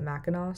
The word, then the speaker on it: Mackinac: It's spelled with a C at the end, but everyone pronounces it Mackinac, so that's what I did too.